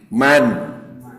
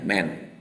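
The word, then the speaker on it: من: lihat dari analisa kata man man ini huruf Isim syarat kata penghubung syarat orang barat menyebut membacanya Men tapi tulisan mah tetap Man jadi Man itu sama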